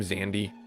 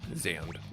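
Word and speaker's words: Xande: I was calling him xandy last time that's not his name xand uh x a and the E zand the E is silent so forgive me for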